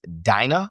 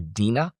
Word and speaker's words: Dinah: Her name is Dinah or Dinah. I think it's two legitimate ways to pronounce her name.